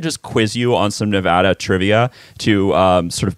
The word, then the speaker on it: Nevada: okay okay okay well how do you say the state's name correctly i think we've gotten that far yes nevada and kudos for doing that so i don't have to